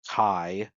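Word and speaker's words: χ: And as far as Key is a letter, so it's pronounced as either Ki or Kai, and it's a letter that means death and spells endings.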